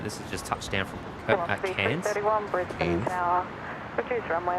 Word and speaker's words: Cairns: Cairns. Cairns. What do you mean? Cairns. You know, you sort of do the eye bit. Tiny little bit of the eye.